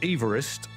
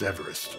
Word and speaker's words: Everest: after my predecessor sir george everest so george everest as he apparently pronounced his name actually rather objected to this